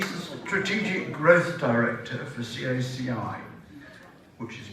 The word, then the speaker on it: CACI: Steve Olive he's a strategic growth director for caci which is pronounced it says to me c-a-c-i so I